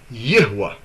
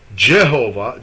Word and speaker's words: Yahweh: So if you would say Jehovah that would like alter the name of Yahwa and not only that the way you even spell it and pronounce it.